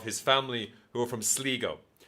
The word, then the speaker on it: Sligo: family who are from Sligo. It's fucking Sligo, as anyone who ever knows anything about it would know how it's pronounced. Sligo, and it just everyone in in the audition tapes, they look like audition tapes.